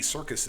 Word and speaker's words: Serkis: You know who Andy Serkis is? Is he involved in any circus? No, is he a circus clown? You would think so. It's spelled Serkis.